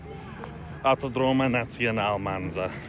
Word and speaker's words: Autodromo Nazionale Monza: Autodromo Nazionale Monza.